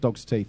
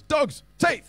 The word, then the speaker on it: Dogs Teeth: how you pronounce it it's not dogs's teeth it's dogs teeth like that what sort of dogs